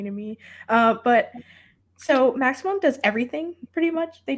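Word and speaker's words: Maxicimam: so next up is maximum i know it doesn't look like you pronounce it as maximum but it is it's so funny to me uh but so maximum does everything pretty much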